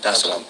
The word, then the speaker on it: Dar es Salaam: Did I pronounce that right? Yeah, Dar es Salaam.